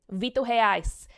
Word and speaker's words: Vitor Reis: The final boss, because he is Brazilian. Vitor Reis. He's Brazilian. So that is how you would pronounce it.